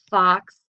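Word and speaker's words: falx: longitudinal fissure the Fox this is kind of pronounced F a w KS the Fox cerebri that's found within the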